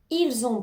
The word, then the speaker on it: ils ont: terminer le travail attend n'oublie pas de faire la liaison ils ont ils ont pu terminer le travail